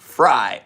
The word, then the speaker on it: Frey: and it is pronounced Fry. Oh my god, Doug Fry, thank you for correcting me.